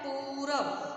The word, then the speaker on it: पूरब: अगर हम बोले पूरब तो उच्चारण कैसा निकल रहा है, पूरब, पू देर तक बोल रहे हैं, इसका मतलब इसमें बड़े ऊ की मात्रा है, ठीक है।